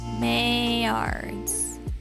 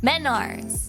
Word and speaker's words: Menards: see no wait mail mards hey I said it wrong still men like in male men Arts Menards oh not the male uh got you Menards I'm close um let's